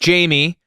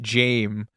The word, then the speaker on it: Jame: gum AKA Buffalo Bill not pronounced Jamie I right I want to be pedantic about it because it says it in the text I only know this because I've read this book like a half dozen times it's like it was an error on his the character's birth certificate and he insisted on it pronouncing it Jame as like James without the S it's just a very